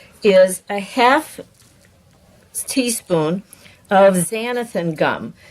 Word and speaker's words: xanthan gum: Now this stuff is a 1/2 teaspoon of xanthan gum. It's spelled with an X.